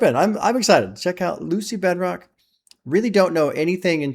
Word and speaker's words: Lucy Bedroque: So that's why okay, Lucy Bedroque.